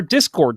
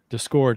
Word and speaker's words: Discord: your last week ben i just noticed that you and i say discord differently we you we just scored the different emphasis on different syllables that's true you say you say you said discord and i say discord